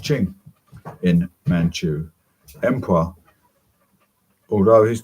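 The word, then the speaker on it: Qing: taii declared himself the first queen of w pronounced Ching in Manu Emperor although his tury was still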